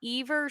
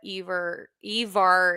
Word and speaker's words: Ivar: But we're going to talk about Ivar Stenberg. That's how you correctly pronounce it. People pronounce it so many ways, but Ivar is how uh, he actually does pronounce it.